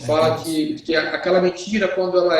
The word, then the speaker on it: Goebbels: colaborou com Hitler, Goebbels, né, quando É fala Goebbels. que aquela mentira, quando ela é pronunciada várias vezes, ela acaba Se tendo tornou um uma quê de verdade.